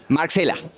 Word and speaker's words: Marxela: Marcela. Se dice Marcela común, sos Marcela con X. Se dice Marcela común con E, se pronuncia igual.